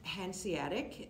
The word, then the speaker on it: Hanseatic: and everything affected your family yes well it's pronounced Hanseatic and um it's it hanza in in German